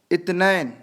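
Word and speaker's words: اثنين: और 2 को बोलते हैं इत्नैन और लिखा हुआ रहेगा इस्नैन, ठीक है। सा को ता बोलते हैं अरबी में, इतना ध्यान रखिएगा। तो वो इस्तेमाल जो बोलने में इस्तेमाल करते हैं वो बोलेंगे इत्नैन, इंग्लिश में 2।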